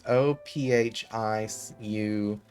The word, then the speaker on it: Ophiuchus: Ophiuchus, I think is how it's pronounced. It's Ophiuchus. Chus. I've been pronouncing it horrifically wrong.